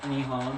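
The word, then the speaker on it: 日本: In Japan, it's pronounced Nihon, which is the Pacific island nation off the coast of mainland Asia.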